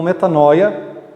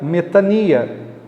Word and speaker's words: μετάνοια: Alguns pronunciam como metanoia, que seria mais uma linguagem do grego koiné, mas a linguagem mais parecida com o grego atual seria metania.